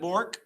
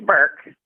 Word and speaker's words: Burke: Is it Bork? It's Burke. Burke, okay.